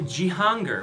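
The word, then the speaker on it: Cihangir: i would recommend probably jihanger which starts with the c because the c is pronounced like a j in turkish so c-i-g-a-n c-i-a-n-g-i-r something like that g-hunger it's kind of below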